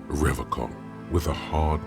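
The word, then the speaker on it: Revachol: He pronounces Revaccom with a hard K.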